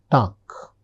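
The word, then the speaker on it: Tag: next that is Guten Tuck. Guten Tuck. The ending letter is G and I am pronouncing it as K.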